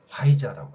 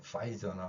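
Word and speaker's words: Pfizer: 그 회사 이름을 우리가 화이자라고 합니다. 물론 발음에서는 파이저나 뭐 다른 발음이 되겠지만 어 발음을 하지 않고 아라고 해요.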